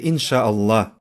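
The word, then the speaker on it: إن شاء الله: так ин ша алла а произнося это вы говорите иншалла хорошо итак когда я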